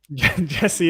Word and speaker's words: Jesse: Jesse is the right way to say it.